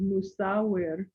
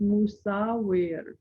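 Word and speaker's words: musawwir: m-u-s-a-w-w-i-r and it's pronounced musa the last part of it could be a rolled r just softly or just say it like a regular r and that means fashioner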